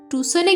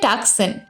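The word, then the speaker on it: Tucson: বিশাল জায়গায় তুমি কখনো টুসনে গেছো লোকটি কর্কশ গলায় বললে টুসন সেটা আবার কোথায় আমি এবার বানান করে বলল টি সি এস ও অনেকে বলে টাকসান আসলে ওটা টুসেন উচ্চারণ হবে আরিজোনা স্টেটে লোকটি বলল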